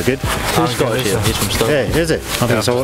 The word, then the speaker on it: Stirling: S-T-I-R-L-I-N-G. You say Stirling. It, yeah, you say it like the pound, Stirling.